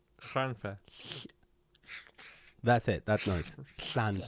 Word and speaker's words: Llanfair: It's not a sh sound. It's with your tongue, and it's like a throat It's noise. like vampires live there. Yeah. No, not. The is a CH. Schlanfair. Schlan. Stop hissing in the Put microphone. your, It's weird. put your tongue on the top of your can't do mouth. it. This is Tongue on the roof of your mouth.